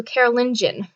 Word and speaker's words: Carolingian: Martel's son Pepin the Short became the first king of the Carolingian dynasty. I had to make sure I looked it up and pronounced it properly. So Carolingian.